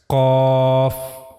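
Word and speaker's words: ق: Then the origin of this letter cough is soft pallet. This is the pallet. Okay. And this is the soft pallet. As you can see the last part of the palette. This is called soft pallet. So while reading cough you have to use this part of your pallet. roof of the mouth in the area of soft pallet. This is the origin of letter cough.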